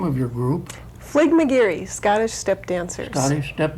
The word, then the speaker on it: Fligmagearie: Pat, would you pronounce the name of your group? Fligmagearie Scottish Step Dancers.